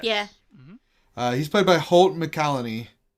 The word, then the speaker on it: McCallany: He's played by Holt McCallany. McCallany. I can never pronounce anything with Mac. McElhenney. It's not McElhenney.